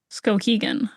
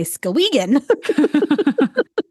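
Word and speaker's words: Skowhegan: Scoaggan is where she was born. You are right. I was going to say Scogan.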